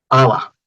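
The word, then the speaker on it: haba: Ya se vuelve muda la H. Aba, pero con H todavía. Es una H muda, ¿no? ¿Para qué pones una H muda? ¿Qué sentido tiene la H muda si no se pronuncia?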